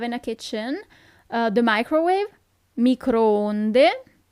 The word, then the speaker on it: microonde: The microwave, microonde. Remember that the double O is not that common at all in Italian, but when you see it, it's not U as in English, but it's a long O.